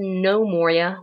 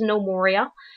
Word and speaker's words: Gnomoria: for this episode so remember guys this is no Moria get no more I said it right the first time and then I corrected myself with an incorrect pronunciation so this is no Moria and uh this is episode one of this